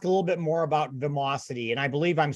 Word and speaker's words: Vimocity: want to last a little bit more about vamosity and i believe i'm saying it correctly am